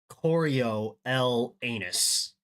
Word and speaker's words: Coriolanus: it's spelled corol l anus and it is pronounced Coro L anus it could not be more on the nose